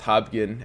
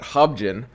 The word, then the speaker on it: Hobgen: I guess it's pronounced HOBGEN and not HOBGEN. HOBGEN sounds a lot stupider.